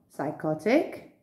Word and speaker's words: psychotic: psychiatrist psycho psychotic pneumonia now you may wonder why on earth would they put a silent p when we don't pronounce it at all there's a very clear reason for this because they are greek and in greek the p is pronounced practice these words and